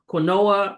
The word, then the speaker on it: quinoa: Quinoa. You know, some people look at that word and they mispronounce it. Quinoa, or, jasmine rice, and some others.